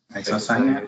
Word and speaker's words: isocyanate: Isocyanate? Isocyanate. It's spelled wrong, so it's yeah. There's an A missing there. You pronounced the word right, Marcus, the way it was written now.